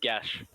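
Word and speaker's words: geas: It's pronounced Gash.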